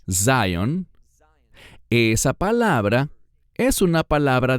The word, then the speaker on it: Zion: sobre El sionismo bueno la palabra Sion que en inglés se pronuncia Zion esa palabra es una